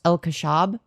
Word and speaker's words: El Kashab: Yo, thank you, Ashley El Kashab, for the 2 saying my last name is pronounced El Kashab.